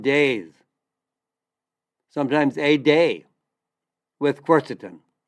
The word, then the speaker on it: quercetin: Well, there's a very powerful flavonoid, a polyphenol, and it's called quercetin. And I'll spell it for you. It's Q, like Queen, U-E-R, C like Charlie, E like Edward, T like Tom, I-N like Nancy.